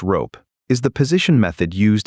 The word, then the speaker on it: RoPE: Rotary position embedding, usually pronounced rope, is the position method used in most modern language models.